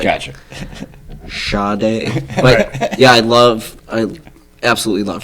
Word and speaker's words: Sade: Yep, Sade's. They always used to say Sade, but it's Sade.